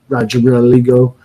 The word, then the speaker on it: Rodrigo: The Flaming Executioner, Will Rodrigo. I think that's how you pronounce it. I got to roll the R a little bit.